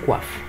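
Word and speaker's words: coiffe: يصح شعره يعني س كواف يصح شعره يعني ايه س كواف طبعا الاو لما يجي بعديها الاي بنطق و عشان كده بقول ايه كواف طب لو هو او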